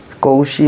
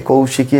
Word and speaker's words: কৌশী: অতি অতি পবিত্র তিথি কৌশী অমাবস্যা পঞ্জিকাতে লেখা থাকে কৌশিকী অমাবস্যা কিন্তু সঠিক উচ্চারণ কৌশি অমাবস্যা কৌশিকী নয় অর্থাৎ আজকে আজকে এই তিথিতে কুষ সংগ্রহ করা হয়।